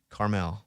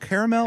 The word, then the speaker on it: Carmel: We're going up to Monterey, How do you pronounce the other one? Carmel? Carmel. Carmel. I kept calling it Carmel. Yes, that's what I was doing. I was telling my wife, is it caramel?